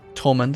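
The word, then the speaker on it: Thomond: Apparently it's just Tolmund, it's not pronounced Thomund, even though they, for some stupid reason, put an H in the word.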